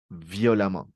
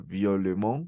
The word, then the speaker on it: violemment: violent l'adverbe des manière violemment oui ici la prononciation c'est viol violemment je veux pas dire violement non viol même situation